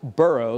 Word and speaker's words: burgh: And in Scotland, they put an H at the end of Berg, originally pronounced Burrow, like in Edinburgh.